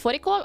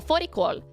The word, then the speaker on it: fårikål: How do you pronounce fårikål? Oh, fårikål. Fårikål. Oh, this is the letter O. Fårikål.